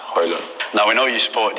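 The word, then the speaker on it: Højlund: But the correct pronunciation is Hojlund.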